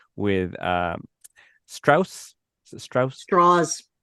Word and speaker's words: Strauss: Straws. It is Strauss, but he made a point of pronouncing it straws because he wanted to sound American and Southern.